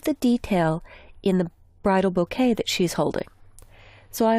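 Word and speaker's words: bokeh: Now, there's a lighting effect called bouquet. And that's actually how it's pronounced.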